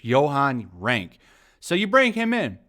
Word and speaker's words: Johan Renck: So I think it's Johan Renck.